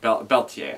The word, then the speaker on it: Berthier: The extended chess game was interesting, and it sounded to me like they were pronouncing her name as Beltier, or trying to say it with the Japanese phoneticism, Beltier. And it's all spelled like Berthier. I don't know. Beltier, I believe, is how they pronounce it.